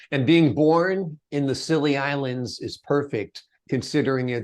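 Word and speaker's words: Scilly: the west coast of of England called the silly Isles or the Isles of silly it's spelled s c y and um I moved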